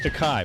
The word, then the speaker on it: Takei: george takei is uh it's takai but no it's it rhymes with okay he'll explain to you